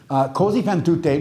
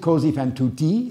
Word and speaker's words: Così fan tutte: So if you pronounce it così fan tutti, that means thus does everybody. But tutte means thus do all women.